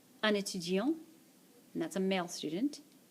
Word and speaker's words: étudiant: Un étudiant. Un étudiant. And that's a male student. Une étudiante. Une étudiante. That's a female student. Again, this letter is silent.